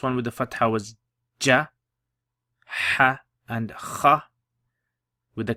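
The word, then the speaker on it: جَ: Okay, let's say we put okay, how would you pronounce that? Khu ja kha.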